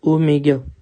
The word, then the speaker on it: Oméga: rouge ça c'est quoi c'est une lettre grecque lettre grecque et ça se prononce Omega voilà est-ce que maintenant